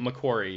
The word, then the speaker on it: McQuarrie: McQuarrie? McQuarrie, yeah.